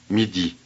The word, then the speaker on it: midi: a new word listen midi midi MIDI 94. notice that the vowels are the same in both syllables they sound different to me midi midi MIDI 95.